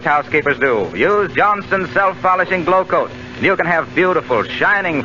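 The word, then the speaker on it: Glo-Coat: Glow Coat is spelled Glocoat.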